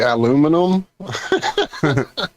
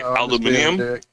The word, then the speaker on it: aluminium: Are you saying stimulated the way British people say aluminum? No, it's British and you're and uh Australians they say aluminium like no you dumb fucks there. No, there's only five syllables, not six.